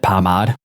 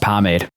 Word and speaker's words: pomade: Were you doing a bit when you called it pomade? No. It's pronounced pomade.